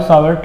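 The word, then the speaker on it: Savart: इसमें T silent होता है, बायो सावर्ट लॉ, ठीक है।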